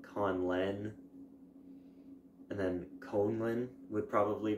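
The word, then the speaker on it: Conlen: pronounce of that way well how would you pronounce it well Khan Len and then Conlin would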